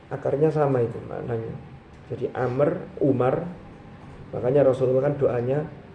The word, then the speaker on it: Amr: Amr, kalau Amr itu ada wawunya tulisannya, tapi wawunya hanya bedakan tulisan dengan Umar. Tapi itu akarnya sama itu maknanya. Jadi Amr, Umar.